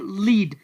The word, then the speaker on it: lead: आ रहा है, यानी LEAD, तो यहाँ पर इसकी प्रोनाउंसिएशन है यानी लीड। और यहाँ पर जो दूसरा वर्ड आपको नज़र आ रहा है इसको कहा जाता है लेड। तो यहाँ पर फर्स्ट वन लीड और सेकंड वन लेड।